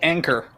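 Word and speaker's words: Ankr: can call it oh it literally is called anchor like anchor oh anchor okay nkr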